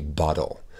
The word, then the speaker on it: bottle: Souvenez-vous, en anglais américain, on va facilement prononcer ces T comme des D, donc a bottle.